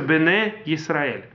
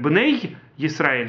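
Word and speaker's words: בני ישראל: хили проглатывается так же юд после цере не произносится Поэтому не нужно делать хск там нету двух юдов там пишется два Юда но не произносится произносится Бене Исраэль А вот по ашки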